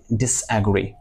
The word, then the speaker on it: disagree: You got to say disagree. ডিসএগ্রি Dis like disadvantageous, disappoint, not disappoint, disappoint, disagree, disagree. Say disagree, ডিসএগ্রি disagree, Okay.